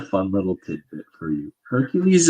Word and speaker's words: Hercules: little tidbit for you Hercules is the Latin pronunciation of it which means that it's fake it's literally the Romans